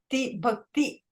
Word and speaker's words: bhakti: Yes, Bhakti, that's how it should be. Bhakti. The E sound comes after t.